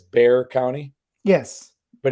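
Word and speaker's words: Bexar: say that by the way you said it's Bear County yes but it's spelled Bear right yeah that get that gets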